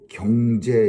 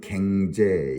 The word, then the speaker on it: 경제: 아주 오래된 그런 것 때문에 그 흔히 그 발음 속에서 사람들이 서로 눈치를 챕니다. 그래서 예전에 경상도 대통령이 연설할 때 살 그리고 또 경제 이런 거를 갱제 이렇게 말해서 사람들의 우스갯소리가 그렇게 된 적이 있습니다.